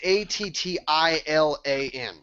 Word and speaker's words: Attilan: head, the first thing, I don't know if I'm pronouncing it correctly, but it's Atlan, I think is how it's pronounced. It's Attlan, so I think it's Atlan. Yeah. No, I went to the wiki site earlier today, and it's Attilan.